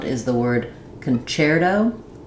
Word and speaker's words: concerto: Both of these words say the ch sound because they come from the Italian. And so in the Italian language, the CHEL-oh and concerto, the letter C says the ch sound, which is why these break the spelling rules of English.